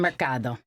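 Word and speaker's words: mercado: Marcado.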